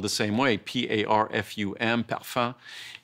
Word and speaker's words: parfum: If you look at a product and it says fragrance, or it says, in French, the word is parfum, but it's spelled the same way, P-A-R-F-U-M, parfum.